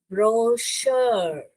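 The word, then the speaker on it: brochure: तो इसको हम ब्रोशर श, इसको ये जो CH है यहाँ पर श का साउंड ही किया। ओके, श का साउंड किया।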